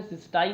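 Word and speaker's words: cystine: दूसरा मैंने इसका प्रोनाउंसिएशन सिस्टाइन लिख दिया है।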